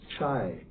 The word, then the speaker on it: Chai: And Nagar, and then the Chaya becomes Chai, not Choi because it's a long A, Chai and Gai.